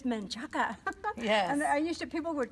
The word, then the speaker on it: Menchaca: It's Menchaca.